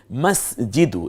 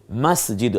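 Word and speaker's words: مسجد: এবারে আমরা চলে যাচ্ছি মাসজিদু একটা শব্দ দেখুন তো মাসজিদু আমরা মসজিদ বলি এটা উচ্চারণগত ভুল মসজিদ হবে না হবে মাসজিদ ম আকার স জ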